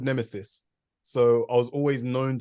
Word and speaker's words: Nemisis: is that is that how you say it Nemesis Yeah so basically um so my name is